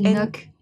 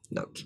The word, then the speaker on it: Ngoc: Mais non, c'est Noc. Noc.